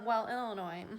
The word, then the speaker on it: Illinois: "Yes, my name is Illinois, and I need an airline ticket to, Illinois. Yeah, nope, the S is silent."